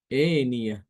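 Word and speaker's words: آنية: Imam Hisyam dia membaca dengan mengimalahkan hamzah dan alif ya. Tusqo min ainin aniah. Dibacanya tusqo min aininah. Eniah.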